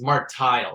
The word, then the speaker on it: Martile: oh right it's martile uh it's phonetically it's Mark tile so m-a-r-t-i-l-e right and uh of